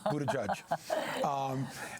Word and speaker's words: Buttigieg: Yes, I'm not trying to pronounce the name. It is Buttigieg.